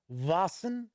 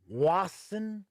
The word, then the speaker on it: Vaesen: I heard Vaesen, so kind of with a V sound, right? I've heard Wassen with a W sound.